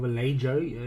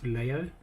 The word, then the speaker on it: Vallejo: It's called Vallejo or Vallejo, that's how it's written, but it's actually pronounced Vallejo.